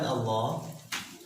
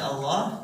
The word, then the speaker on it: Allah: Lafaz Allah sebelumnya harokat fathah, maka cara membacanya atau cara pengucapannya harus tebal ke lafaz Allah, ya. Tebal ke lafaz Allah sambil ditekan. Kenapa sambil ditekan? Karena di sini ada tasydid. Setiap ada tasydid pasti ditekan. Coba kalau kita hapus wa loh, ya.